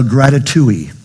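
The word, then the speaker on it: grati2ee: And I call this a gratitui. Rhymes with ratatouille. Let's see how it's spelled. G-R-A-T-I, the number 2, 2 E's. It's not in the Oxford yet, but it will be. The gratitouille says that whenever you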